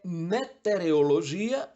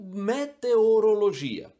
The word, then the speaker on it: meteorologia: existe sempre quem confunda Onde colocar a letra O é metereologia ou meteorologia meteorologia é a ciência que estuda os meteoros os fenômenos atmosféricos Então é só associar a meteoro e você vai falar sempre meteorologia beneficiente Essa é uma